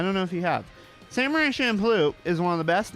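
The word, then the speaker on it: Samurai Champloo: I can't I can't say it the way you're supposed to pronounce it. Samurai Shampoo. It's Samurai Shamploo. All right. I had people in my comments about Samurai Shampoo bitching at me about the pronunciation.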